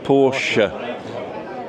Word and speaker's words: Porsche: But in German, the E's pronounced. So Christina, right? Okay. And it's the same with Porsche. Porsche.